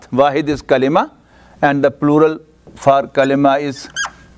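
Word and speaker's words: كلمة: and the plural for Kalima is remember the pronunciation it is not Kalama Kalima Kalima means the meaningful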